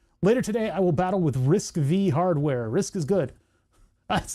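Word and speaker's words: RISC-V: Aha, pronounce risk and then it's pronounced V. It's risk V.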